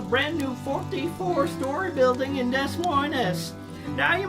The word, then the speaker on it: Des Moines: Now you may hear the locals call it Des Moines. They're a religious bunch, and since S is the first letter of Satan's name, they consider it to be cursed and don't pronounce it.